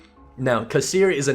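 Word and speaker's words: Cessair: Anyway, as I was saying, we just came through the Kasir lawns. That is pronounced Kasir, even though it looks like it's spelled like Caesar or something. Now, Kasir is a name from a Christian apocryphal Irish pseudo-history.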